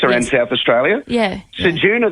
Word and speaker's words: Ceduna: Ceduna, they were pronouncing Kedana.